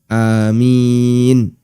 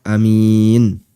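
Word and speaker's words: آمين: Amin bisa juga dibaca Amin dua-duanya boleh kemudian keterangan yang kedua keterangan Ibnu Abdul bar Beliau mengatakan ada dua cara baca untuk amin Al Mad Wal qashar yang pertama dipanjangkan yang kedua dipendekkan seperti kata Allah atau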